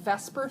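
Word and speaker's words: VSEPR: the way they are is what's called Vesper Theory um it's not a direct pronunciation obviously um we're we're butchering that um but it's veence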